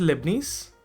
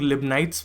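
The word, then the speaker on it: Leibniz: Then this is लिबनीस, और कुछ लोग लिबनाइट्स पढ़ते हैं.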